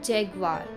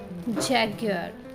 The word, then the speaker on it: जैगवार: इस वर्ड के 2 प्रोनाउंसिएशन हैं and both 2 pronunciations are correct. एक ब्रिटिश प्रोनाउंसिएशन है और एक अमेरिकन प्रोनाउंसिएशन है. जनरली जो मोस्ट पॉपुलर प्रोनाउंसिएशन है वो है जैगवार.